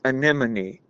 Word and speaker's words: anemone: I think anemmy is different from an anemone. Okay. It's anemone, right?